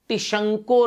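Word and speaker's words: Tishchenko: Reaction है, ये है टिशंको रिएक्शन। टिशंको, टिस्चेंको बोलोगे तो स्पेलिंग लिख लोगे, SCH है ना, तो टिस्चेंको, जैसे ऐसा लग रहा है चाइनीज माल है, नहीं टिस्चेंको। ठीक है, तो टिशंको रिएक्शन है।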